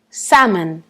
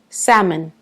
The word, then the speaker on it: salmon: peu bizarre parce que on prononce pas vraiment le l mais à mon avis